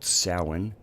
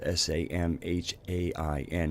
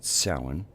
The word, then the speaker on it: Samhain: earth observances of the year it's also called salan even though it's spelled sa m h AI n looks like Samhain but if parallely it's pronounced salan and they're which is actually from what I